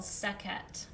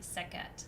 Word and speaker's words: Sekhet: And then the third category is called Sekhet. S-H-T, Sekhet. Sounds like Sekhmet, but there's no M.